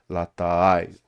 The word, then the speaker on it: latai: Um, and so it's kind of the way it's pronounced is without putting a glottal stop, you have to do a sort of like a unstressed A followed by a stressed A. So latai.